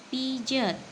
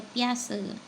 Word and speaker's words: Piaget: tokohnya ada berapa hai pertama adalah pijet atau sering diburu sebut juga piace beda-beda cara bacanya yaitu teori perkembangan teori